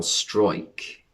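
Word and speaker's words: Struijk: was that centre-back pascal strike is how you say strike but that sounds bit drummy doesn't it strike what a strike er but it's one of them where it's dutch and it's uija so we'll go strike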